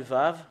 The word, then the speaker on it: ו: vous voyez ces lettre c'est vave et le fait de le prononcer c'est V et dans dans certaines